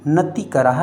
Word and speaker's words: नतिकराः: जिन शासनोन नति कराह अलग पढ़ना है आप, और नति करा में बीच में विसर्ग है पीछे तो नति कराह।